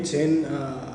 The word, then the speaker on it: Zen: वहाँ पे लोगों ने ध्यान नहीं बोल के चैन बोला, और चाइना से जब जापान गया तो वही जैन हुआ। ओके, सो ध्यान को ही थोड़ा अपभ्रंश करके थोड़ा सा दूसरा प्रोनाउंसिएशन में जैन कहा जाता है।